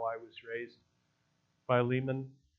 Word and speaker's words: Philemon: It's the book of, some pronounce it Philemon. I'll go with that. It's how I was raised. Philemon.